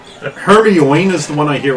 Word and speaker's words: Hermione: harry potter books and they were talking about her me one one hermione is the one i hear a lot yeah